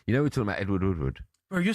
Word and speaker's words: Edward Woodward: You know, we're talking about Edward Woodward. Bro, you're saying his name wrong.